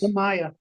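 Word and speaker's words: Tamiya: Tamaya Tamaya.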